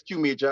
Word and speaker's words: Qmajur: The pronunciation is Qmajur.